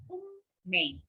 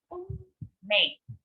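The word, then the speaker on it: 運命: Destiny in Japanese is unmei. Again, unmei. Even though it is written as unmei, it should be pronounced as unmei.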